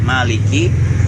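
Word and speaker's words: مَالِكِ: Maka Maliki di situ harusnya kan panjang, Maliki yaumiddin. Malah seperti pengucapannya seperti di ayat surah An-Nas, Malikin Nas. Jadi pendek juga ikut, dikiranya sama dengan pengucapan Malikin Nas, padahal berbeda.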